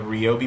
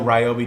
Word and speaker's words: Ryobi: make specifically of the ri products yes it is RI even though Ryobi just feels better I'm going to start saying RI in these videos because that's the right way to say it um and so this